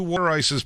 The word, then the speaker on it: water ice: He goes, 2 water ices, Dan? I go, hey guys. Hey guys, it's pronounced water ice. It's water ice.